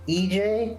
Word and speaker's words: EJAE: I believe her stage name is pronounced EJ, EJAE.